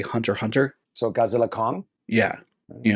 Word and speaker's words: Hunter x Hunter: like uh like how in anime they'll have X in the middle of the title and you technically don't pronounce it like Hunter uh Hunter